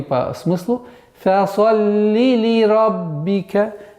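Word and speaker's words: لِرَبِّكَ: Фасалли ли раббика. Ли ра. Ра твердый звук. Ба с удвоением. Ли раббика. Ли раббика.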